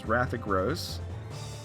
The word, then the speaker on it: Rathagros: Alright, so next up is going to be Pagliacci versus Rathagros. Now that I'm saying it correctly, I'm forgetting the G is in there.